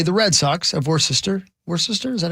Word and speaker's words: Worcester: Worcester, is that how you say it? Worcester. Just Thank Worcester. You. Okay, and then it looks next like up, Worcester, yeah, but it's Worcester.